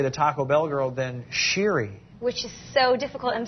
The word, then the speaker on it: Shiri: easier to say the Taco Bell girl than sheeri which is so difficult I'm so thankful that